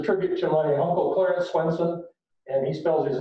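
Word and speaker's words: Svendsen: the spelling to S-W-E-N-S-E-N, because in Denmark, where my grandfather came from, for some reason, the V is a W and the D is silent, so that's Swenson.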